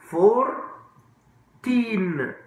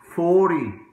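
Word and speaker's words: forty: مفيش نون 14 برضو 4 تين طب 40 4 تي او 40 احنا امريكان هنا بنقولها 40 ما بنقولهاش 4 تي بنقولها 40 طيب 5 فاكرين ده ام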